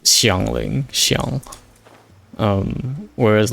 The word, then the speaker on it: Xiangling: I'm always beware when some people pronounce certain character names really weirdly like people calling Shiang Lling as Shangling. Yeah, that's that's dangling.